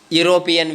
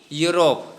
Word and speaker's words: Europe: In the same way, Europe, that also starts with consonant sound, even though there is vowel in the beginning of that word, right?